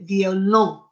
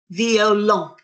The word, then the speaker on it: violon: The way we say it is violin, they so say violon. The O-N says an on sound. Can you say that? On, violon.